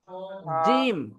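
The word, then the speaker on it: جيم: জিম চেপে, জিহ্বার মাঝখানে বরাবর তার উপরের তালুর সাথে লাগিয়ে, জিম চেপে, বুঝতে পারছেন?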